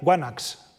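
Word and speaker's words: ϝάναξ: Rey se dice en micénico guanaca, mejor dicho se escribe. Se diría guanax probablemente.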